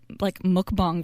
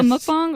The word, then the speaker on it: mukbang: So a mukbang or mukbang, some people say it. It depends how you say it.